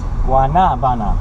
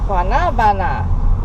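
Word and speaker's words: guanábana: We just talked for about 15 minutes to Carlos and Joe about the correct pronunciation of this fruit we're trying to find. Guanabana. Guanabana.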